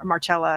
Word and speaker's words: Marcella: But yes, Marcella of Rome, Marcella actually is how you pronounce it.